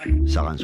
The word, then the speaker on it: Sarens: Sarens, on prononce le S.